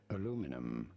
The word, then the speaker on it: aluminum: In American English, this would be said as aluminum.